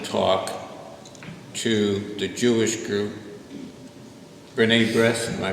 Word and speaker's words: B'nai B'rith: Monsignor Sewell was giving a luncheon talk to the Jewish group, B'nai B'rith, am I pronouncing that right?